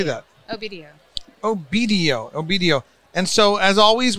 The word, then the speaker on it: Obedio: o-e-b-d-i-o how do you say that oh video obedio obedio and so as always we're cruising around